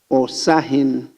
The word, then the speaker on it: Osahin: So he has put there Osahin. It's not Osahine. It's different pronunciation. It's Osahin. There is no hine.